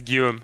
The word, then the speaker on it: Guillaume: Yeah, it's Guillaume. It's a French name.